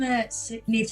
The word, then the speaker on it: Niamh: It's pronounced Niamh, isn't it? Yeah, Niamh, that's right.